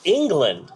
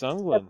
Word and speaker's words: Englund: I always thought it was Robert England, because that's kind of how it's spelled. Is it Englund? It's Englund, yeah.